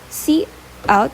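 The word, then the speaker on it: cout: So C out is pronounced as C s e out is an object used with the insertion operator to output or print text.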